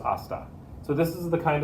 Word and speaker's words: hasta: know about the h the h in spanish is silent that doesn't mean we